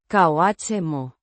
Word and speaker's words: como: Pronounced. Koh-moh. The O. is pronounced like the O in go, and the H is silent.